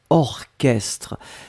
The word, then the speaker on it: orchestre: Souvenez-vous, C'est bizarre, mais il existe certains mots qu'on écrit ch, mais qu'on prononce que. Il n'y en a pas beaucoup, c'est vraiment une minorité, mais ici c'est un exemple.